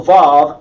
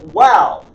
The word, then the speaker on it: vav: I changed the vav to a vav as in valve. But the ancient pronunciation was wah. And they call it wow instead of vav.